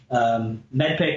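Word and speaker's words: MEDDPICC: medpic and you know medpic is spelled m-e-d-d p i c c the m stands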